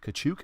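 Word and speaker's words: Tkachuk: You got Matthew Kachuk again.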